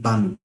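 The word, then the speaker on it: balmy: word बामी ठीक है य भी एल साइलेंट है बामी ठीक है बामी एक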